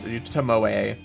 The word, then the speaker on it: Tomoe: There is an E pronounced Tomoe.